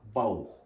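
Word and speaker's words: Bauch: da Bir diğer örnek deya bauh mesela karın demek deya bauh kalın onu da yazayım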